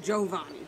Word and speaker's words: Giovanni: like a generation like it's supposed to be pronounced jovani you know yeah are